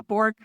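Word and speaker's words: Borge: about how you've got a quote from Victor Bourge. Am I saying his name right? How do you say his name? Bour. Yeah. Borg.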